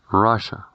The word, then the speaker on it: Russia: con doble S y se pronuncia Russia, Russia, sonando la U como una A.